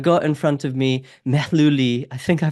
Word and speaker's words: Mehluli: I've got in front of me Mehluli. I think I pronounced that right.